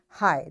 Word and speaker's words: high: silent letters such as t in switch and g in high.